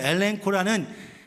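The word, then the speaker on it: ἐλέγχω: 그래서 엘렌코라는 저 오른쪽 위에 써 있는 엘렌코라는 헬라말, 그리스 말의 발음은 엘렌코 이렇게 됩니다.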